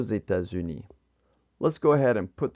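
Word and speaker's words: États-Unis: or Zetas uni and on the last one you can see that it does uni is plural that's why they X carries across and it sounds like a Zed or Zetas uni let's go ahead and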